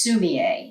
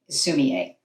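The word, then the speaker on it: 墨絵: Sumi, S-U-M-I, means ink stone, and then there's a hyphen with the letter E, which is pronounced A, and that is ink stick. So it's ink stick and stone painting, sumi-e.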